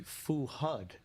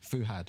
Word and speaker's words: Fuhad: it here I thought I think it would be fuud no they're fuad fuhad fuhad fuhad and how what do